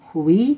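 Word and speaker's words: OUAI: This is from, I think it's pronounced Hui, O-U-A-I.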